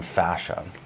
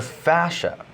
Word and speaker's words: fascia: If you've never heard of the term fascia, it kind of sounds like the whole Dutch thing from Austin Powers, fascia, but it's spelled F-A-S-C-I-A.